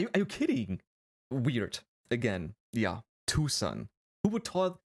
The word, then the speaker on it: Tucson: Tucson. Who would call that Tucson? Then write Tucson. Like two sons.